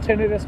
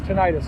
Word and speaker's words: tinnitus: correct me and also i know tinnitus is pronounced tinnitus by the doctors but the colloquial term is tinnitus so we're going to